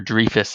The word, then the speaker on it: Dreyfus: a traitor Alfred Alfred Dreyfus or Dreyfus is as the French might pronounce the name so that it looks